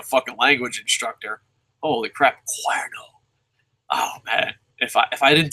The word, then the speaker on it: Cuerno: To pronounce King Cuerno's name, Dave, just say the word dare or pair, but replace the letter D or P of the word with Q. So, Cuerno.